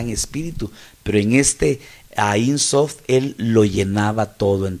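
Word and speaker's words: Ein Sof: que los rabinos, oiga, le llaman Ain Sof, ¿verdad? Incluso yo le investigué, otros le ponen sofá con acento en la A, sofá, y bueno, le ponen un montón de maneras a esto, pero esto quiere decir,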